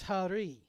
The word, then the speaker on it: Hari: lineup for the cats Alex Harris or har no hang on Alex Hari according to his pronunciation guide we thank the players